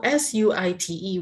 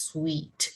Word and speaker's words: suite: So SUITE, we pronounce it as sweet. It's not suit.